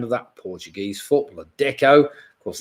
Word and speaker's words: Deco: Number 6, of course, was deco, that art style, and also the name of that Portuguese footballer, deco. Of course, that rhymes with gecko somewhere.